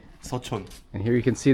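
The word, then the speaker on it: Seochon: Uh we we call this area Son. Okay. Sachon. Yeah. S U O C H O N Son.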